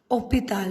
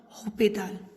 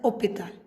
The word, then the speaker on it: hôpital: See, we saw here, we learned here that H is mute. See, H is mute. So here, it is pronounced as hôpital, not hospital. H is silent. So, it is pronounced as hôpital.